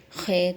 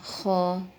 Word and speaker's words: خا: لہجے میں ادا کریں، اردو تلفظ سے پرہیز کریں، یعنی بے، تے، سے، ہے، خے، توئے، زوئے وغیرہ یہ ہرگز نہ پڑھیں کیونکہ یہ اردو لہجہ ہے۔ عربی لہجہ با، تا، ثا، ہا، خا، تو، زو یہ ہے، اس